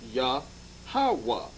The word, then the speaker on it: Yahweh: 3-syllable breakup, the tetragram, the Y, the H, and the W and the H is pronounced Yahweh.